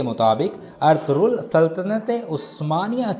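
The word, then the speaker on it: Ertuğrul: बात क्लियर कर दूं लफ्ज अर्थ रूल नहीं बल्कि अर्थ रूल है गुर्दों में लिखते हुए लाइन की आवाज नहीं आएगी जगह इंग्लिश में लिखते हुए जी साइलेंट होगा ना फ्रिल अर्थ रूल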